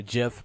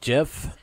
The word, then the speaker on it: GIF: woohoo argue about a jiff pronunciation or gif I don't know I've always said Jeff and I think it's gif sometimes I say Jeff but i believe it's gif gif so yep I got